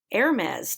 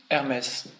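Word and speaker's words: Hermès: The word this week is Hermes. Again? Hermes. Again? Hermes. Hermes, which is French.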